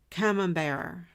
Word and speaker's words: Camembert: Camembert.